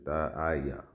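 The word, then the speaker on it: תעה: That's Thaya. Thaya. You're saying it correctly. Thaya.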